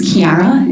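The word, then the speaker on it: Chiara: and your last name my first name is kiara it's spelled c-h-i-a and my last name is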